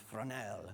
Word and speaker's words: Fresnel: But, um, if you try to rent it, it's spelled Fresno, Fresnel, but it's pronounced Fresnel because it's French.